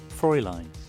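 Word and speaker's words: Fräulein: And you froline froling froline fro froline. Hold on. Give me a second. I'm probably pronouncing it wrong. Frey line. Fro line. There we go.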